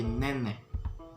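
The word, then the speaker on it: nenek: e k and again you don't need to spell the k all right so just say name it would be fine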